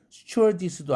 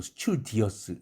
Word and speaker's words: stewardess: 그런데 괜히 스튜어디스도 아니고 스튜디어스 이렇게 발음하는 사람이 있어요. 스튜디어스가 그런 철자가 어디 나올 수가 있나요? 없죠. 그 점을 유의하기 바랍니다.